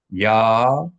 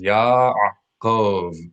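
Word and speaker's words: יעקב: Ya-a-kov. Three syllables. Ya-a-kov. Repeat it for yourself. Ya-a-kov. All right? The bolded vowel lets you know that this is the sound of the letter ayin, which should be pronounced distinctly from the letter aleph.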